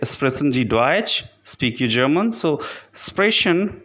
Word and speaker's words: Deutsch: The next letter combination is T, S, C, H, which simply pronounced like CH in English.